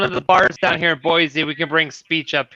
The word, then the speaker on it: Boise: i'm here now and i gotta get used to calling it boise not boy z like how do you pronounce it it's boise boise idaho not boy